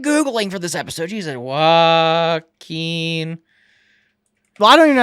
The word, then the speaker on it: Joaquin: Joaquin Phoenix. Oh, I've been saying it wrong for a while. What the hell? Pause. How do you say Joaquin Phoenix's name? Joking Phoenix.